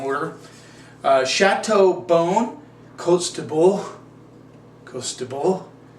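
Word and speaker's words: Côtes de Bourg: bone coats to Bull now there's a debate should we say it like the French or should we say it like an American and my friend Alan would debate that you say it like the French which is how they say it we would say quote the Borg it's okay with me if you say it that way no sweat off my back this is on the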